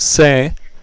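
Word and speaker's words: sé: it to be but the gel form is pronounced sei and is s e with an accent mark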